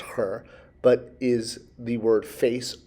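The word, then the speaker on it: ḥr: You know this because it's the double consonant her, H-R. If you can go back and we've gone through drawing the face a few times. So the face with a stroke line becomes an ideogram, HR, still pronounced her, but is the word face or on.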